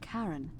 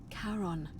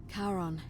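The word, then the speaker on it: Charon: it's just as you described it only your pronunciation is a little off the name you heard wasn't karen it was c-h-a-r-o-n as in caron the ferryman of the dead karon who in exchange for the right coin helps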